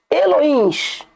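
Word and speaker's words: אלוהים: Mas não é essa a pronúncia correta dentro do hebraico. Vós sois Elohims.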